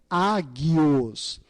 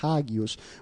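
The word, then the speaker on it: ἅγιος: Porque na verdade a palavra é águios. No grego, o H ele é mudo, ele não tem um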